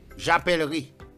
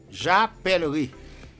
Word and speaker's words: j'appellerai: J'appellerai. Tu achèteras. Ouais. J'appellerai. Ok. J'appellerai. Le E qui précède le R ne se prononce pas. On ne dit pas j'appellerai. On dit j'appellerai.